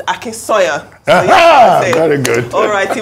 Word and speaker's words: Akinsanya: You know, when you grow up in different countries, there are always people who aren't familiar with your name, but now it's Akinsanya.